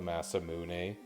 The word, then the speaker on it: Masamune: with the flame sword until we get the mass moon which i know it's called the masamune but it's also spelled badly enough that the pronunciation changes you know what a weird